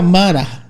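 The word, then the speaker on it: מרה: La palabra rebeldía, en su origen desde el hebreo, se pronuncia mara que es igual a resistir activamente, endurecerse, negarse, alinearse.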